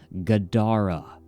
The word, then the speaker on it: Gadara: three-syllable growling noise that sounded like Gadara, with the emphasis on the second syllable.